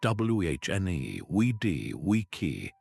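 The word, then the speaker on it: Veni, vidi, vici: The restored pronunciation is guttural and sharp with hard C's that sound like K's and V's pronounced like W's. Veny vidi vis I would have been thundered as wh ne we d we key.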